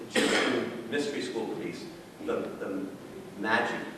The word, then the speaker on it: Magi: The Magi, that's how it's pronounced.